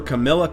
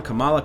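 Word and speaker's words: Kamala: Guys, get hyped for Camila Khan. Camala Khan. I mispronounced it more than once.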